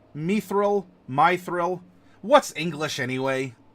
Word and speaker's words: mithril: have to commit perjury my thrill it's clearly pronounced my thrill yeah mithril me thrill my thrill what's English